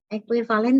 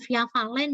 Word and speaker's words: ekuivalen: Ekuivalen tuh kayak sama dengan terus ada panah. Nah, ini ya nak ya. Bacanya ekuivalen, oke. Bukan via valen ya, tapi ekuivalen.